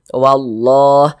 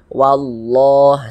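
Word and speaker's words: والله: sehingga kita baca wallah sehingga huruf lam yang ini nih huruf lam yang ini dia tidak ada tanda bacanya tidak ada harakatnya dia cara membacanya itu dibaca idgham Jadi maksudnya itu langsung masuk ke sini bacanya dari wa langsung masuk ke huruf lam yang ada tanda bacanya ini ha wallah seperti itu makanya alif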